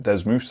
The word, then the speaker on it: Desmos: They pronounce it Desmos. I think it's American. I normally call it Desmos, so I may call it either in this video, so please don't get angry either way.